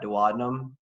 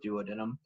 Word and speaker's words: duodenum: is called the duodenum some folks pronounce that duodenum i was taught to adam in school so i stick with duodenum so the duodenum does